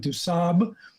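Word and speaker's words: du Sable: honor of jean-paul point du sab that's i've learned the french pronunciation dusab that drama didn't materialize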